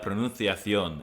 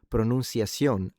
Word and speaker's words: pronunciación: With that being said, in Latin American Spanish, the C is read like a S that doesn't vibrate. So, it would be pronunciación, I think, rather than pronunciación, like he's saying.